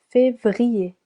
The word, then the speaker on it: Février: Février, 3 syllables.